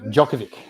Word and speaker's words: Djokovic: Novak Djokovic. That's it. So the D is silent.